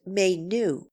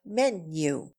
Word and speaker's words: menu: affair or menu menu by the way is pronounced menu not menu as one often hears it many dining cars